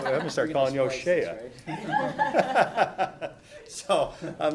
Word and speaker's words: Hosea: It's Hosea. O'Shea. Yeah, no relation. But it's O'Shea. It's spelled the same way, Hosea.